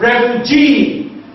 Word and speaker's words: refugee: So, in the word like refugee, the last syllable is G, and that is what is stressed.